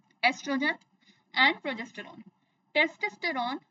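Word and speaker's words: oestrogen: एस्ट्रोजन कहीं-कहीं आपको यह इसकी spelling O ई एस टी आर ओ जी ई एन दिखेगी। लेकिन इसको प्रोनाउंस हम इसी तरह करते हैं।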